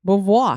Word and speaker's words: Beauvoir: I say it again it's got that fun little voi at the end and you do this